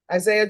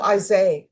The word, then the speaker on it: Isaiah: All right, how do you pronounce your first name? Isaiah? Isaiah? The H is silent. Oh, Isaiah.